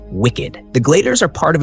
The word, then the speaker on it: WCKD: Thomas and Teresa once worked for the organization that built the maze called WCKD, pronounced wicked.